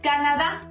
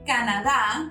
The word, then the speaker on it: Canadá: Canada, same as Mexico or Mexico, we spell it the same, but we pronounce it different. People from Canada or Canada are called canadiense.